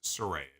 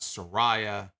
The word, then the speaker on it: Saraya: on commentary tonight that the proper way to say her name is Soraya it's not Soraya it is Surrey it came to the